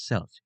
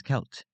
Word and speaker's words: Celt: will pronounce it as selt due to the word looking like it has a soft C. It is actually pronounced as Kelt because the C is pronounced as a K sound.